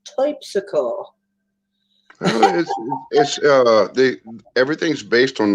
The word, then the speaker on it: Terpsichore: it's not terpsichore, it's typsicle.